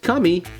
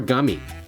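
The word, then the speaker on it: 神: never seen before and this kanji means god and it's pronounced Kami or gummy so when you put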